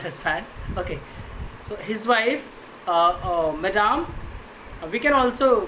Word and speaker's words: madame: husband, Matilda's husband, madam, it is a French word, MME, okay, and it is pronounced madame, okay, madame, okay.